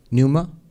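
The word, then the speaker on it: pneuma: how to pronounce it p n e u m a does anybody know how to pronounce that Numa from which numatic has come so that also stood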